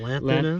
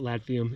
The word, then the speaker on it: lanthanum: Lanthanum. Lanthanum. I was calling it lathium. It's lanthanum.